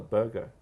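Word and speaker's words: Burgher: what they call a burger. All right. Do you know that? No, I didn't know that. Wow. B-U-R. B-U-R? G-H-E-R. No kidding. Yeah. And the H is silent.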